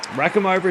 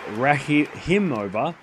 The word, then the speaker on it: Rakhimova: Rack him over to serve.